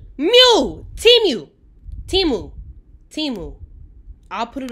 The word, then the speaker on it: Temu: me so don't look at Bethany but it's pronounced teamu T Mew timu timu timu I'll put it on mind your